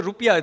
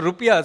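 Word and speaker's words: rupiah: called Indonesia correct it's National currency is the rupia they in fact have the correct pronunciation not our rup is actually the wrong it's angelized angli sized version of it so the rupia so here is a country that actually names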